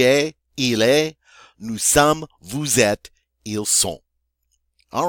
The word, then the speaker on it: vous êtes: of people, you are, vous êtes. Notice that the first E does have an accent, the circumflex, just like the E in the infinitive. All right? And again, the final S is not pronounced.